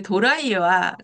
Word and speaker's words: 도라이: 원자로 시즌인데, 그, 그, 그 도라이와 또라이는 다릅니다. 도라이는 굉장히 저, 좋은 아, 의미예요. 도라이는. 아, 텔레비에서 네. 나왔어요. TV에서 얼마 전에. 예, 도라이예요. 제가 말씀드린 거 도라이예요. 또라이가 네네네. 아닙니다. 도라이. 네, 발음 잘할게요. 도라이.